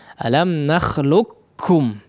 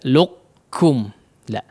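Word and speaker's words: ألم نخلقكم: Alam nakhluqkum ya, tidak luqkum la ya, tapi alam nakhluqkum ya, langsung masuk kepada huruf kaf ya.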